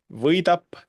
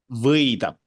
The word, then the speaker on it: võidab: And võidab. I think you guys have in Portuguese the sound also, so Ö. it's like võidab, Weed. võidab. You can pronounce the the a, võidab.